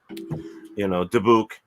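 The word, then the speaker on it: dybbuk: In fact, just the past few years they came out with the horror stories of the Dubik box, and how they say it, dibuk, like you said or whatever.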